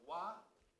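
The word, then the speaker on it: 和: he just wrote, in Japanese it's called wa. In Chinese it's pronounced he, which means peace.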